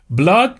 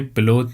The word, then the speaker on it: blood: blood به معنای خون. پس تلفظ این کلمه blood نیست، blood هست یعنی خون.